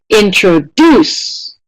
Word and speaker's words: introduce: It's the last syllable that is getting the most stress in this word.